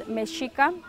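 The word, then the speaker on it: Mexica: were given the name aztec because they couldn't pronounce our true name what is our original name it is called meshika so we use both names we both add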